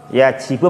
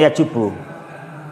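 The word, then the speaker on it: يجب: Itu yajibu bacanya ya, nomor 5 itu ya. Yajibu. Yajibu apa yajubu? Yajibu apa yajubu? Yajibu. Bukan yajubu. Bukan ya.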